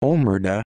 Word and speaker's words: omertà: omerda italian pronunciation omer modifier letter vertical line ta is